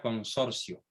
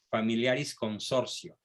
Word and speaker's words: Familiaris Consortio: Se pronuncia consorcio. Familiaris Consorcio.